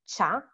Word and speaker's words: ciao: And now you also know how to pronounce it well because it's cha.